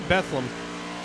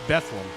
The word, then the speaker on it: Bethlehem: and look forward now you can see that it's spelled Bethlehem but here in Pennsylvania that's pronounced bethleem with the exception of